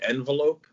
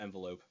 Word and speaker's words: envelope: Did you say envelope? Yeah, it's not envelope. You put the wrong emphasis on the wrong.